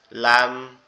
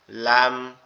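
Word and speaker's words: لام: জিহ্বার আগা উপরের তালুর সঙ্গে লাগবে, লেগে উচ্চারিত হবে লাম। লাম লাম।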